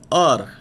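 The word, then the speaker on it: hour: oh you are here the word our in the world our H remains silent we pronounce it as R an R sound is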